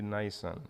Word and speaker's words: Nisan: I keep saying Nissan as a car, but it should be Nisan.